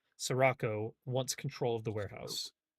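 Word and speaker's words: Sirocco: Sperico. Oh, I might be saying it wrong. It's S I R O CC O. Oh, Sarraco.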